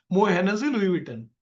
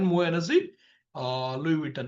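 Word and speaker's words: Moët Hennessy Louis Vuitton: वो LVMH जाना था, मो हेनेसी लुई विटन, इट्स a pronunciation like that, मो हेनेसी लुई विटन, LVMH।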